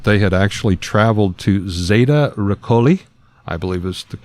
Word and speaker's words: Zeta Reticuli: the hypnosis, that they had actually traveled to Zeta Reticuli, I believe is the correct pronunciation.